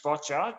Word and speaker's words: boccia: It's boccia, just like gotcha, but with a B.